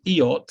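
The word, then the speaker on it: Eyot: made aware of the chizik eight which is pronounced eot or so it's spelled no it is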